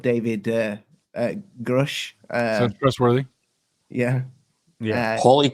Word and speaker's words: Grusch: you pronounce his surname grush Crush like like frosh yep that's the one right I remember that it rhymes with Rush Crush I'm sorry David